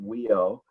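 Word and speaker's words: WHIO: wisconsin health information organization we pronounce the acronym we owe and this slide while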